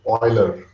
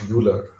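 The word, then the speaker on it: Euler: not oid it's uid so this is a German EU it's oil was a Swiss mathema and it's pronounced oil it's not pronounced UL that's the first thing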